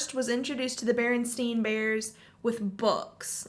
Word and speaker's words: Berenstain: A, and the bottom it says the Berenstein spelled with an E. I just said it even weirder. I said it wrong. Berenstein.